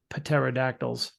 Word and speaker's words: pterodactyls: in this case uh paterodactyls paterodactyls oh the I'm sorry the p is silent but pateri remember uh